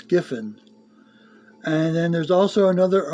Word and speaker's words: Giffen: And you had Keith Griffin. Gri yeah not well Gifin, not an R there, it's Gifin.